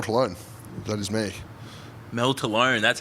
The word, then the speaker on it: Tolone: Mel Tolone. That's how you pronounce it.